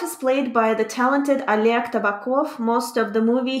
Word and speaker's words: Oleg: So in this case, it's pronounced Oleg.